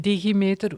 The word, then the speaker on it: Digimeter: So 𝗦𝗵cie came out with a report called DigiMeter, which is, I'm pronouncing it this way because it's only in Dutch, but it revealed that